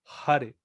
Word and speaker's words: hare: sea sí pero tiene si está la palabra con la h al principio tenemos que pronunciar la h no podemos decir ar cristian sino que es ar hare las aves ok y